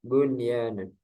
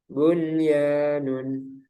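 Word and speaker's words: بنيان: Tidak berlaku hukum idgham bi gunnah pada 4 kata berikut ini, yaitu ad-dunya, sinwanun, qinwanun, bunyanun. Para ulama sepakat untuk membacanya secara jelas atau idhar karena masih dalam satu kata dan mereka menamakannya idhar mutlak. Ada yang menamakan juga idhar wajib.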